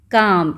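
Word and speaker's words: calm: इसमें तो आ रही है ल काम। इसको कैसे पढ़ेंगे हम? काम। स्मेल की साउंड नहीं आती है।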